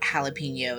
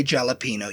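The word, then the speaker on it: jalapeño: There were a couple of influencers we used to keep up with that knew good and well how like jalapeno is pronounced and they'd say jalapino.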